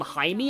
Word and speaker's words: Jaime: Like, in the voice acting, Batman calls him Jaime. I'm like, oh, right, that's how it's pronounced.